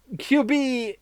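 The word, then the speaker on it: Kyuubi: Buster I mean qb9 QB is a nice way to put it because well basically that's how you pronounce QB the nine-tailed fox of Japanese mythology and well also these two letters and nine because of the nine tails and it looks so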